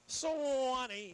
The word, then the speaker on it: Sewanee: Sewanee. How you say it? Sewanee.